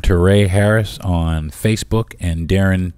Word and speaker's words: Deron: I am Darren Tay Harris on Facebook and Darren T Harris on Instagram d r o n